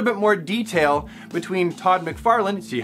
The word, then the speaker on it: McFarlane: I call him Todd McFarlane by the correct pronunciation from now on. McFarlane, McFarlane, McFarlane.